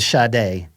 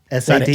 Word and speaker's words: Sade: Remember, I think you pronounce it Sade. S A D E Sade, yeah.